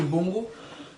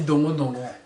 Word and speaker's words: dongo dongo: Autre encore, le bongo, que vous appelez ça en français, le bongo. Normalement on dit dongo dongo.